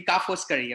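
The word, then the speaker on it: Ca' Foscari: So the pronounce would be Ka Foscari, okay?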